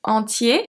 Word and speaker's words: entier: If we look at entier, it's going to be different. We have entier, entière, entier, entière. So here the pronunciation change if it's masculine or if it's feminine.